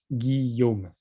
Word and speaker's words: Guillaume: One thing is that my name is pronounced Guillaume. I know that for most of you, this is kind of unbelievable that you pronounce these letters this way, but that's me.